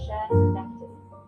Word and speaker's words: Schenectady: It's pronounced Schenectady, with the emphasis on the first syllable.